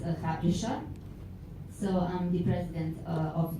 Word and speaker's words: Hrabriša: It is Little Ray One, and in Serbian it is pronounced Hrabriša.